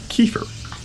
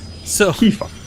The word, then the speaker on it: Kifire: It is pronounced Kiefer or Kifire.